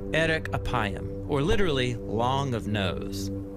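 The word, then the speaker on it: ארך אפים: in Hebrew the phrase slow to anger is pronounced Eric apayam or literally long of nose but what does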